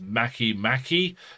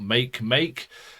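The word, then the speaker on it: Makemake: one with a ring this is pronounced mackie mackie not make make so there are some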